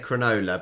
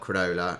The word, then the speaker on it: Cronulla: And I said Cronulla, but it's not Cronulla. It's Cronulla. Cronulla?